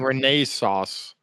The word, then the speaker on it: Renaissance: Then I'm waiting for Steve to tell us saying it wrong because we say it the English way which is different from the American way. Look at his face. It sounds like you're saying Renee sauce.